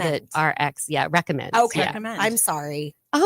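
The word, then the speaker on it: RXCOMMD: any way you say it, but I actually pronounce it recommend. But it's spelled RX C O M M D. We spelled it RX. Yeah, recommend.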